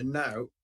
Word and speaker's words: knout: Silent K then. Okay. Knout. Yeah, knout.